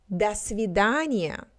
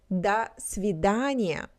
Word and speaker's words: до свидания: When we have unstressed vowels, their pronunciation is a little bit different when it's stressed. So we do not say до свидания.